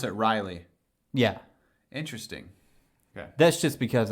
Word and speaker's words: Raleigh: right what we're in Rayleigh so I don't I don't really don't care like there's regional pronunciations I really don't care so you so you you pronounce it Riley yeah interesting that's just